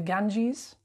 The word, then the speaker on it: Ganges: god and endure i'm afraid you're incorrect it's pronounced the ganges oh ganga redeemer of the fallen mother of